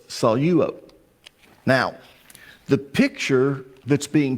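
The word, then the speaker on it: σαλεύω: But because there's a dip thong there with epsilon epsilon, you take the lambda and you put it with the first syllable. Okay? So it's salo.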